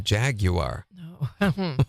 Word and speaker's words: Jaguar: know my what a jaguar Jaguars Jaguar Jaguar actually correctly pronounced with the U in front of that I hate that I